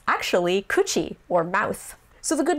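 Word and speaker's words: 口: And then the other one that looks like katakana ro, but it's actually kuchi, or mouth.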